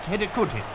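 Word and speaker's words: Hidegkuti: less than a minute the scorer's name is pronounced huti I hope the Olympic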